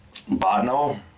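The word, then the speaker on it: Bottineau: Botno, and I say it right.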